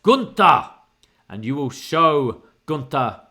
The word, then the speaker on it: Gunther: and bivens once again calls him gunner he goes it's pronounced gunta and you will show